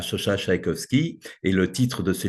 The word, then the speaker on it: Szajkowski: juives qui était Chacha Tchaïkovski. Moi, je le prononce comme le musicien Tchaïkovski.